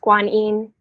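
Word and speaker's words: Guanyin: Such a gift to us in this world, this energy of, in Chinese, her name is pronounced Kwan Yin. And so that's how I normally say her name, Kwan Yin.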